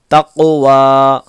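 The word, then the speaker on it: تقوى: یا کھڑا زبر وا، یا کو نہیں پڑھیں گے، یہ صرف لکھا ہوا ہوتا ہے، ٹھیک ہے، اس کو پڑھا نہیں جائے گا.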